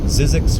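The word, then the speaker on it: Zzyzx: is in zebra again X is an x-ray zizzi X Road just on the other side of the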